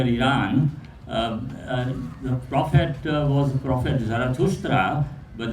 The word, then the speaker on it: Zarathustra: the prophet was Prophet Zarathustra, but the Greek philosophers who studied his teachings and philosophy pronounced his name as Zoroaster.